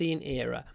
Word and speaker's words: era: a r anthropos anthropos era era remember at the beginning of this we have the ear sound um but because we have another syllable it becomes more like I plus I plus r i i r ER era the anthropos scene era